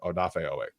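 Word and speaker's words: Odafe Oweh: Uh, what are you looking forward to about Odaf Ooway? I need to keep on saying Odaf because it's not Od. I need to say Odaf. That's how it's pronounced. So, Odaf Ooway.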